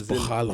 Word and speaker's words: Borralho: Oh, but he's Brazilian, so it's Borralho.